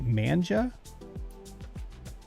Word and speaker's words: manga: I was saying manga the other night. Is it manja? I know Bag said manja. I don't know which way it's pronounced, manga or manja. I know what it is, but I think I might have been pronouncing it wrong my whole life. Okay, so it is manga.